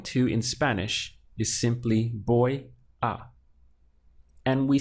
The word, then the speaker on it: voy: Remember that in Spanish, this V sounds like a B. So the pronunciation of this is boy.